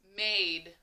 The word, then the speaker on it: made: A blank E, remember that E comes along, tells the A, the silent E tells that A to say A and not A.